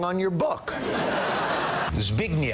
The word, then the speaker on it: Zbigniew: The W should be an F. They spelled it wrong on your book. Zbigniew. Zbigniew.